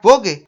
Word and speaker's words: Vogue: Vogue se pronuncia Vogue en francés, que quiere decir moda, pero aquí la gente decidió que era Vogue y así se le conoce.